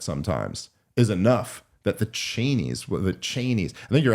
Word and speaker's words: Cheney: is enough that the chenies the chenes I think you're actually I think cheni is actually how they pronounce it whatever yeah but Cheney